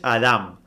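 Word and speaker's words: אדם: es la concordancia 120 y cuya pronunciación es Adam que significa humano lo que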